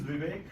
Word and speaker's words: Vivek: So my name is Vivek. It's pronounced as we wake up in the morning.